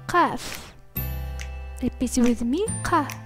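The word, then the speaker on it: ق: The letter Qaf. Repeat with me, Qa. This letter is the emphatic counterpart to the English Ka.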